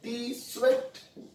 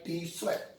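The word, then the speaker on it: Tswett: Developed by scientist है टी स्वेट। आप टी को साइलेंट भी कर सकते हो, सिर्फ स्वेट बोल सकते हो, या फिर टी स्वेट भी बोल सकते हो।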